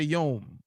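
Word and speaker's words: יום: to be yom when there's a fat w in the middle of the word and you got these three letters how are you going to say yom i've never heard of a silent w now i know where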